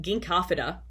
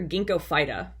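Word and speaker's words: Ginkgophyta: into perspective this one phylum ginkafida or ginkgo phyta is how i hear it pronounced sometimes too it's a phylum in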